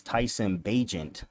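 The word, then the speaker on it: Tyson Bagent: shout out Tyson bajent I was saying his name wrong on the Pod the first few weeks Tyson bajent my man from Martinsburg hopefully he'll be starting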